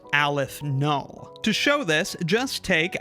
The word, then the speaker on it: aleph null: This symbol for it is pronounced aleph null.